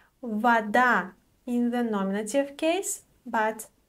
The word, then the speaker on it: вода: So the stress shifts to a different syllable. Unfortunately, there is no rule for this, you just have to memorize it.